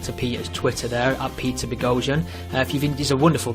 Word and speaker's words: Boghossian: It's like explosion with a B. Beian explosion.